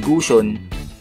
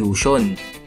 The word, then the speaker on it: Gusion: katawa-tawa ang sarili niya, kagaya ng pagtawag sa hero na si Gusion, eh ang tawag niya dito ay Yushion.